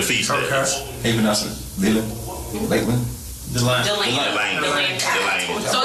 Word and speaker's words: DeLand: Delane. So it's Central Florida, North Spell it out. yeah. You know, anybody know how to DELAND. Like the land.